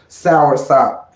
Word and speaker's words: soursop: That's how you say it. Soursop. Sop is S-O-P. Sour is S-O-U-R.